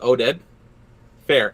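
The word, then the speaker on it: Oded Fehr: Oded, O-D-E-D, Oded Fair, F-E-H-R.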